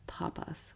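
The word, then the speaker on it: πάπας: Mark has held the title of pope and in Greek pronounced papas which means father and in Coptic since pope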